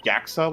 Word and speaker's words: JAXA: I think GYAXA. you're meant to say it like GAXA, like kind of like NASA.